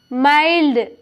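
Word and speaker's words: mild: तो य पर देखिए एम आई एल डी माइल्ड देखिए इसे मिल्ड मत मिल्ड नहीं पढ़ेंगे माइल्ड पढ़ेंगे यहां पर देखिए एम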